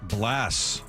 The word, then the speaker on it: Blas: Blas. Yeah, Blas. Blas, 1 S. Lefko's got 2 here. It's pronounced 2, like Blas, like glass.